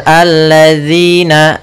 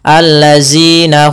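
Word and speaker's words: الذين: syamsiyah Kemudian pada lafal alladzina ada lafal dalal hati-hati jangan sampai membaca huruf dalal diganti dengan huruf Zai ini kesalahan yang sering terjadi contoh alladina Hum n ini salah harusnya alladzina kemudian lafal zina ada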